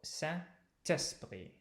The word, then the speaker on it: Saint-Esprit: So that means that silent consonant, te, gets brought forward to the next word. So one trick about French is that syllables on the written page have absolutely nothing to do with syllables in oral production. So, Saint-Esprit. Et du Saint-Esprit. Okay. That's what we call liaison.